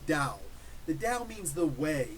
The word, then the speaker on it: Tao: It's spelled Tao, but it's pronounced Tao.